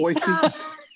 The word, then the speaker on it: Boise: Kyle out here in SoCal and Sydney in Boise. I don't know if I said it right or not. Nosy. Boise. So, Say it, Sydney. Boise.